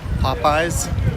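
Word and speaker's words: Popeyes: Someone asking how do you pronounce Popeye's like the sailor man or pop eyes? Pretty sure. Just say popey like the sailor man and you're good.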